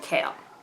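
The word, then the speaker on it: Chaol: And in my opinion, like unless like it's derived from like a different language or something, and so it's pronounced like Kale, I just find it really weird that this is considered spelled like Kale.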